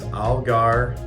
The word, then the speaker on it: Allgeier: So our name is Allgeier Martin and Associates. So I think of the fish, the ugly fish, like in Spring River, the prehistoric looking gar.